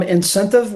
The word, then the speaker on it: Incentv: Yeah, so Hoolii will become Incentive, which is spelled INCENTV. Little play on words there, but we thought